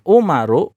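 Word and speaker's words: عمر: Ain, mim, ro bacanya Umaru. Ya, bacanya Umaru.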